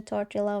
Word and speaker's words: tortilla: No, there there is a tortilla. Tortilla. Oh, that's how you read it. Tortilla. You did not read the the L.